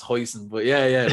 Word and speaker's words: hoisin: like hoisance is that how you spell like pronounce it yeah yeah something like that yeah yeah my mate cards are hoshi and sauce you irish man like it's hoisin and he's like i love that hoshi and